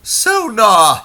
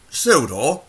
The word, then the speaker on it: Sodor: Sonar, ha ha. Do you mean Sodor?